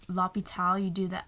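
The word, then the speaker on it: l'hôpital: unclan magazine department store h is silent so if you're saying the hospital you'd say lopital you do the l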